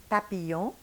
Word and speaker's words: papillon: And this week it is papillon, a beautiful word that represents one of the most beautiful things that nature created, the butterfly.